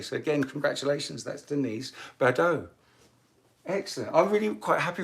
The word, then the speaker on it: Badeau: Congratulations, Denise Badeau. I hope I'm pronouncing your name properly, Denise. It's Badaux. Did I? Fantastic, excellent. So I did get it right, Badeau, excellent.